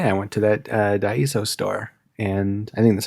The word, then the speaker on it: Daiso: I went to that uh Daiso store and I think that's how you pronounce it. Maybe it's not, but like it's just Daiso.